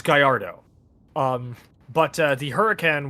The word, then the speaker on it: Gallardo: pronounced by the way if you thought it was pronounced gardo it's Gallardo um but uh the